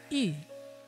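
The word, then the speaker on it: 余: In China, fish symbolizes abundance because the pronunciation of the word fish, yu, sounds like the word abundance, yu.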